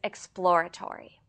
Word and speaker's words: exploratory: Today's word is exploratory. This word is difficult to pronounce because it consists of a plosive p sound, immediately followed by l and r sounds.